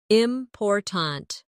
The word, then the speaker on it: important: For example, in the word important, we stress the second syllable, important. If you stress the wrong syllable, it sounds unnatural.